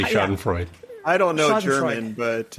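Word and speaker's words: Schadenfreude: we all love sh Shen fruid wow that pronunciation sucked dude you could just say sh and Freud I don't know German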